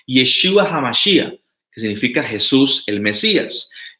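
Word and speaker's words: ישוע המשיח: No hablo hebreo, pero la pronunciación es Yeshua HaMashiach, que significa Jesús el Mesías.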